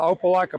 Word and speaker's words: Opelika: a volunteer okay I'm the president of the Opelika pickleball Club you know that's how you say